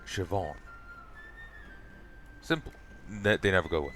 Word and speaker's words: Siobhan: It like rarely have I seen a pronunciation guide that it's just like Irish name Siobhan, Shiv, on, Siobhan. Think prison Shiv and on from awning, Siobhan.